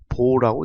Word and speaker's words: baud: 이때 저속이냐 고속이냐의 기준 숫자는 1200이라는 숫자고 이 뒤에 영어가 BAUD라고 표시할 때 읽는 것은 보라고 읽습니다.